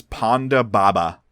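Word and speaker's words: Ponda Baba: alien's name is no the alien's name is Panda Baba that's fine I already have the person and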